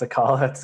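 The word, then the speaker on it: Acala: vp of growth at akala um pronounced the collets it's kind of difficult and then karua which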